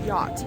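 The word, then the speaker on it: giọt: You pronounce it as yacht, but it's spelled G-I-O-T.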